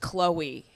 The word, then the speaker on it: Xazmin: My name's spelled Xazmin, and it is pronounced Chloe, all right? It's very easy. It's 2 syllables.